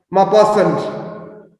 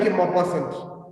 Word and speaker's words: Maupassant: So is something like Maupassant, Maupassant. I think it's pronounced as Maupassant. It's again a French name.